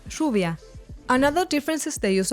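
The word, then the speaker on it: lluvia: spanish and traditional spanish double l is pronounced with a sh sound instead of a y for example rubia rein is not pronounced uvia but instead is pronounced shuvia another difference is the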